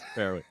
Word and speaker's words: Farrelly: You hear, I swear, it's like one of those things that people say it two different ways, and you're always like, what is the right way to say it? Right. I got it. Yes, Farrelly.